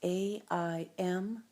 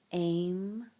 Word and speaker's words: Aim: It's pronounced A-I-M, AIM. Some people pronounce it A-I-N-G, AIM.